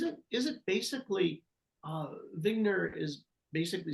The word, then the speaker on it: Wigner: vogner vogner Bubble Eugene vigner yeah so it's it's spelled like wigner but I'm pronouncing it the German Way you know that's what yeah so is it is it basically uh vigner is basically saying we